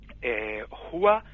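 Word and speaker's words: هو: en la tradición cristiana jua se pronuncia con el aire que sale de la parte más profunda de la garganta hacia fuera y no hay que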